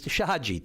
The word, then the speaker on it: Sheshatshiu: Well, you know, we pronounce it here on the island Shahadi, but it's Shahadi, is it not?